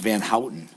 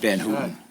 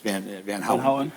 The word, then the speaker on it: Van Houten: his family respect, and it's pronounced Van Houten, not Van Houten. It's Van Houten.